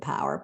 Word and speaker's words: PWR: means metabolic health and pwr we just pronounce it power pwr means personal Wellness